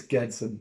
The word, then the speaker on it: Gedson: But for the hard G, it's a G.